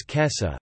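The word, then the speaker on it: 今朝: Instead it is read as kesa, a native bisyllabic Japanese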